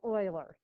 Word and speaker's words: Euler: a famous mathematician years and years ago named euler came up with i know it looks like euler but it's pronounced euler just that i means the square root of